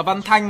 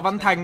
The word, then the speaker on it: Văn Thanh: Còn tôi đọc là Văn Thanh mà tôi đọc là Văn Thành đâu.